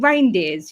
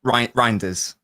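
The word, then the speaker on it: Reijnders: him, uh is it reindeers? You I always want to say reindeers. Rinders. I don't know how to say his name properly. Rinders. Rinders. Can I call him Reindeers?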